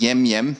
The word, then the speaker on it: emem: so in this case when you see it written there as emem it's pronounced yemim it's not to be